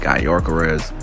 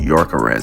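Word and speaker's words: Gyökeres: this dude name like guy yarz well they say his name is actually Yorker not guor carez I was like bro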